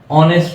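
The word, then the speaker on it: honest: আমরা অমিট করে দিই এইচ টাকে আমরা উচ্চারণ করি না অনেস্ট উচ্চারণ করি তারপরে আওয়ার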